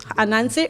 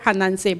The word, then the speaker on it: Anansi: The Anansi story, or we pronounce it both ways, Anansi or Hanansi.